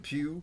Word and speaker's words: Pugh: so florence pugh and i'm assuming you pronounce it pew because going back to one of my soldiers last name is the same as yours and he pronounced it pew so i'm assuming that